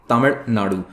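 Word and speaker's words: தமிழ்நாடு: तो मैं भी गलत प्रोनाउंस करता हूँ और बाकी तमिलनाडु के बाहर लगभग सभी इसे इसी तरह से प्रोनाउंस करते हैं, बट इट is wrong. Actually में इसका प्रोनाउंसिएशन होना चाहिए तमिलनाडु।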